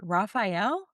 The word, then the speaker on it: Raphael: Raphael I love that you don't know how to say it because you don't know the show apparently.